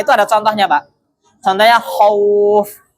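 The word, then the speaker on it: خوف: Contohnya khauf. Kha-nya fathah, wawnya sukun. Maka dibacanya bukan khuf ataupun khif ya. Namun khauf.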